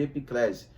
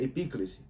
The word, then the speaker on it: epíclese: Alguns chamam de epiclese, mas a pronúncia correta seria epíclese.